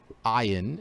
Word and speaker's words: ayin: So same thing with ayin is also a silent letter, as you can see here.